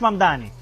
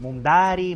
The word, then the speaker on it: Mamdani: Nadie sabe pronunciar mi apellido. Es Mamdani, pero a cada rato me dicen Mundari, Mumnari.